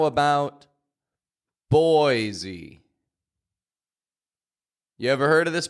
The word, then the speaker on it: Boise: de Mo and one more here how about boisey you ever heard of this place Boise this